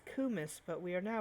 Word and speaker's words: kumis: of Our warm multiple cummies. of various gyms. God damn it. Anywho, It's kumis, but we are now pronouncing it as cummies because, we're fucking degenerates.